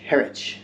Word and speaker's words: Harwich: We're in Harwich.